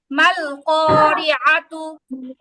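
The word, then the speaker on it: ما القارعة: মাল করিআদু, আইন আইন উচ্চারণ হবে মাল কারিআতু।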